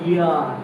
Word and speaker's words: heir: উচ্চারণটা এইচ দিয়ে শুরু হলো, এই উচ্চারণটা ইয়ার, মনে রাখো। উচ্চারণটা কিন্তু হিয়ার না, উচ্চারণ ইয়ার, ই দিয়ে শুরু হচ্ছে। এইচের উচ্চারণটা কি হচ্ছে? অমিট হয়ে যাচ্ছে। ক্লিয়ার?